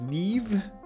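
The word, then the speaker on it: Niamh: So apparently this is pronounced as Neve. It is an Irish name, I just...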